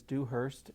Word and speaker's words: Dewhirst: know it's not uh the way most people spell it it's s t and the last name is do Hurst d e w h i r St T